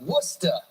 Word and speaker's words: Worcester: I pronounce Worcester right? Yeah. Kinda. You left off the R.